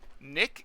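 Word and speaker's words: Knick: Nick is spelled K N I C K. Like Kick, like a kite in shining Kung armor.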